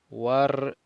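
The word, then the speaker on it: وارجع: War, no pronunciamos el alef que está aquí. Este alef no lo pronunciamos. Warji' y regresa.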